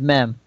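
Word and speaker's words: מם: So, So I looked it up, and apparently MEM is a Hebrew word pronounced mem.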